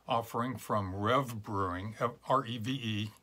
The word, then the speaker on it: Reve: from Rev Brewing have re ve I think it's pronounced Rev in Atlantic Beach Florida